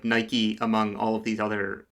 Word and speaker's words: Nike: Uh, it is Nike. Nike is the Greek goddess of victory.